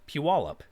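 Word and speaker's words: Puyallup: solve the pronunciation problem the second one is pronounced piwalip this is a combination of two separate words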